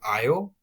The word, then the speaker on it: Io: So, back to the Jupiter system, Jupiter has this moon called Io or some people call it IO as well.